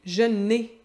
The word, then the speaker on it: j'en ai: C'est vraiment comme ça qu'on va le prononcer, je 'n ai. C'est comme un N un peu plus accentué, un petit peu plus long.